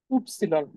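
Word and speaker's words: Ypsilon: ঠিক আছে উপসিলন উপসিলন আমরা যেটাকে হচ্ছে ওয়াই বলি হ্যাঁ যেটাকে হচ্ছে আমরা ওয়াই বলি ওয়াই এর যে উচ্চারণটা সেটা হচ্ছে ওয়াই হ্যাঁ যেটাকে হচ্ছে আমরা ওয়াই বলি সেটা হচ্ছে উপসিলন মনে রাখবেন এটাকে উপসিলন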